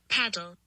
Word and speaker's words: padel: So this is how you say that's true, this is how you say padel. Paddle.